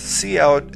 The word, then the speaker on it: cout: code here Co is pronounced C out and stands for console output which means that we